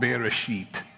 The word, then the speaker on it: bereshit: And there's another word for first fruit, and it's called bereshit. And you have to pronounce that S-H-I-T with an E.